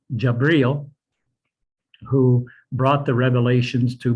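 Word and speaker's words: جبريل: Gabriel was an angel, pronounced in Arabic, Jabril, who brought the revelations to Muhammad.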